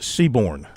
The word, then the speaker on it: Seaborn: By the way, it's Bryce Seaborn. There was an R in there. Bryce Seaborn from Greenwood, tight end.